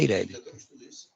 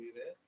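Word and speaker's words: EIRELI: É Ireli. Perfeito. Algumas pessoas chamam Ireli, é o correto. Pode ser Ireli. Eu chamo Ireli. Mas é Ireli.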